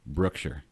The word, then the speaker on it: Brookshire: But if I've been to Brookshire and talked to the people of Brookshire, I know it's pronounced Brookshire.